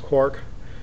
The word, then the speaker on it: QUARC: They've given us a uh license for a copy of their latest software, the QUARC, I believe it's pronounced Quark software to use for the demonstration.